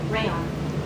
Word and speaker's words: Rayon: Rayon. Rayon? As long as you're okay with that. Okay, can you spell it for me real quick? Rayon. Okay, that's what I was thinking. Kind of like crayon.